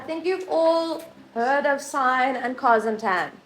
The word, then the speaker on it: sin: calculators there is a sign button it's spelled sin but we call it sign there's a pause button